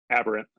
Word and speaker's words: Aberrant: Just so I pronounce it correctly again, tell everyone this one. Aberrant.